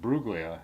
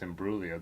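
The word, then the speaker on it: Imbruglia: And then she said something like, "Sorry, I'm not Natalie and Buglia." And I was like, "It's in Bruia." The G is silent.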